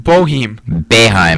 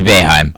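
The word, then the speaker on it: Boeheim: I'm going to say it probably wrong again because sometimes when I when I think of a name wrong, I just say it wrong. And and Jim Bohem Beheim.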